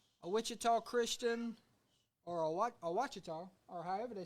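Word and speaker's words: Ouachita: A Wichita Christian, or a Wachita, or however they say it up north. How you say it? Washita.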